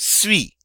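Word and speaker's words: suis: I am in French I say just sweet notice the final s is not pronounced if I want to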